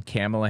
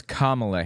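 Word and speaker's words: Kamala: to camela Harris notice notice how he like mispronounces her name camela Harris it's kamla Harris why does he say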